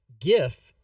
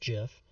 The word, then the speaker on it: GIF: no jafe egg because if you pronounce it gif you are wrong it's pronounced jiff but if you pronounce